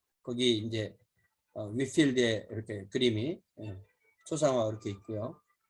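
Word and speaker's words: Whitefield: 거기 이제 위필드에 이렇게 그림이 초상화 이렇게 있고요. 위필드도 여러 화이트필드 이렇게 번역한 이름을 쓰는 사람인데 그건 아닌 것 같아요. 화이트는 아닌 것 같습니다. 위필드 영어 발음 이제 위필드인데 우리는 이제 화이트 하우스도 화이트 하우스 이렇게 하잖아요.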